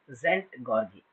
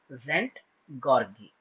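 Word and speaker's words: Szent-Györgyi: is involved here in this particular research is zent gari as is silent here Albert zent gargi he's a Hungarian physiologist he turned his phys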